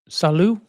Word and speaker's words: salut: Saloo. Is this T silent? Am I correct in thinking that T is silent?